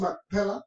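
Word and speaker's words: מכפלה: Lo decimos Macpela porque no tiene el acento en español, pero en hebreo lleva el acento en la A, como lo tenemos aquí. Mire, aquí está. Así se dice en hebreo.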